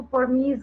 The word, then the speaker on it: permease: Next point is परमीएज कई लोग परमीएज जो है इसको परमीज भी मतलब प्रोनाउंसिएट करते हैं, कोई दिक्कत नहीं है उसमें, बोलने से कोई फर्क नहीं पड़ता बिकॉज स्पेलिंग तो वही रहनी है। परमीज भी बोलते हैं कई लोग इसको, परमीज भी बोलते हैं, ठीक है, दोनों सही है।